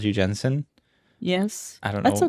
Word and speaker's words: Jensine: Okay, so my name is Jensine. Not Janine. No, not Janine, not Not Jasmine, Jensine. not Jensine. My parents always pronounced it Jensen, and so that's how I'm going to pronounce it.